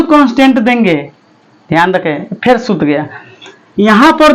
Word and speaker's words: rho: रखेंगे रो, क्या है, रो है, रो, इसको क्या पढ़ते हैं, रो, इसका स्पेलिंग होता है RHO, रहो नहीं, रो, क्या, रो, L अपॉन A,